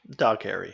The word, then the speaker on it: Dougherty: Okay, so we got 2007's Trick or Treat, directed by Michael Dougherty, Dog Harry, however the fuck you say his name. Dog Harry, yeah.